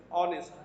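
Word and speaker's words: honest: এখানে যদিও শব্দটি এস দিয়ে অর্থাৎ কনসোনেন্ট দিয়ে লেখা হয়েছে, কিন্তু এইচ লেটারটি এখানে সাইলেন্ট বা উচ্চারণ হচ্ছে না, এবং উচ্চারণ হচ্ছে কিভাবে, অনেস্ট, অয়ের মতো উচ্চারণ হচ্ছে।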